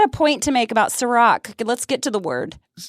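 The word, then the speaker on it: Cîroc: Sirach, I think it's made by P. Diddy or Puff Daddy. Oh, that's CIROC. But that's exactly how you say it.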